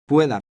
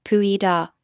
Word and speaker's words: pueda: Don't pronounce it as two separate syllables. Practice saying words like Tenga. and Pueda.